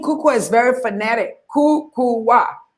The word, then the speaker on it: Kukuwa: of our African names are very difficult to pronounce but my name kuku is very fanatic kuku wa k UK u WS i named it kuku